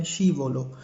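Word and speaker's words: scivolo: ओ एल ए ओ तो ये पूरा इसको अगर हम प्रोनाउंस करेंगे तो ये बनेगा शी वोलो शी बोलो ये झूले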